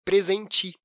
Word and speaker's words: presente: que terminam com "E", é muito comum no dia a dia a gente acabar trocando a pronúncia pela letra "I". Como, por exemplo, com a palavra "presente". Prestando atenção, a gente consegue saber que essa palavra é escrita com "E". Mas, às vezes, na pronúncia, na fala, a gente acaba falando "presenti".